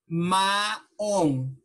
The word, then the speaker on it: maong: So, when you say maong, okay? Maong, okay? That's how you say it, okay?